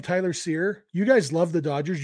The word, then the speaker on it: Cyr: say the name Tyler Seer you guys love the Dodgers you you might be thinking who and then if I remind you seir is spelled cyr you'd be like oh